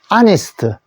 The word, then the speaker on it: honest: honest. H가 묵음입니다. 소리가 안 났기 때문에 H 소리는 묵음인 경우가 몇몇 단어들이 있어요.